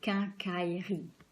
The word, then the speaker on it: quincaillerie: And so we have more like 3 blocks, like 3 syllables. So we say quincaillerie, quincaillerie. It's important because the rhythm of the word it's going to help you to understand how to pronounce it.